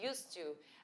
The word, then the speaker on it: used to: você não vai eh você não vai aliás pronunciar esse D tá então você fala US to a estrutura de US